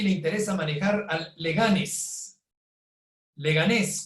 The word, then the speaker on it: Leganés: Leganés, con acento en la segunda E, es una ciudad y municipio de España.